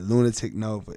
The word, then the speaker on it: Lunitik Novae: And it's Lunitik Nova. It's That's a silent E at the end of Nova. The E is silent because there's a lot of Novas, but I'm the only one that shines like this.